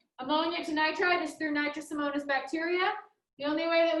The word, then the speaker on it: Nitrosomonas: This is the first time it's written down on your screen, and that's spelled nitrosomonas. Nitrosomona. Nitrosomonas with an S.